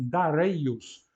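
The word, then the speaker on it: Δαρεῖος: tem lá em grego o nome é iraniano mas os gregos pronunciavam darios com o ditongo Ei que é longo por isso está acentuado e a última reinos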